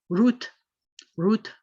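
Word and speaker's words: רות: not a but in in modern hebrew we will always pronounce this as root root and that means ruth then how is the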